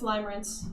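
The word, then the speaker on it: limerence: You're saying it wrong. It's Limer Rance.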